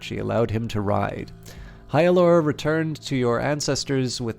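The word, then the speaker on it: Heort: screen by the way your hero's name is pronounced Heil or many more gods died as the gods war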